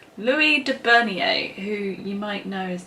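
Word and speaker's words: Louis de Bernières: by and i've asked my brother how to pronounce this name so many times and every time i forget so it's louis de bernier who you might know is the author of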